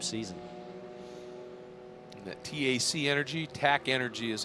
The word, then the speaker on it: TAC Energy: And that TAC Energy, TAC Energy is how it's pronounced.